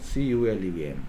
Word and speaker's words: column: Here column, M plus N, but one will be understood, so CULUM.